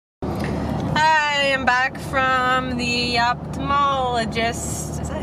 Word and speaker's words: ophthalmologist: Hi, I'm back from the ophthalmologist. Is that how you say it? I've always pronounced the TH, like ophthalmologist. But it's like O-P-H.